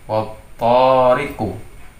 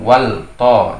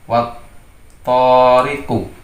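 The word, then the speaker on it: وَالطَّارِقِ: Bacanya menjadi wattariqu. Jadi bukan wal to, jadi lamnya tidak terbaca. Wattariqu.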